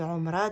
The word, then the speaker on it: Omra: Donc là, mon mari aimerait bien emmener ses parents faire une Omra. Donc je vais le prononcer à la rebeu. Une Omra.